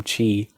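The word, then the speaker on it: χ: Similar to how Kingdom Hearts Unchained, the last one, the mobile game, Chi, or Key, depending on how you pronounce it, was like set up some things that are in Kingdom Hearts 3.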